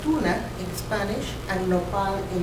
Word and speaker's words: tuna: Tuna, like the tuna fish, but it's tuna, T-U-N-A, in Spanish is the fruit, or nopal in the Nahuatl language.